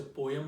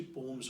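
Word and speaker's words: poems: आप लोग शायद से पोएम बोलते हो, लेकिन प्रोनाउंसिएशन उसकी पोम्स होती है, सही है।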